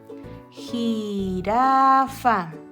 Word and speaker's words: jirafa: Esa jirafa. está entre dos vocales, entonces es un sonido débil.